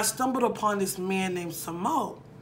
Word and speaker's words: Samoht: upon this man named Simone which was the T is silent but it's literally Thomas backwards so smug and he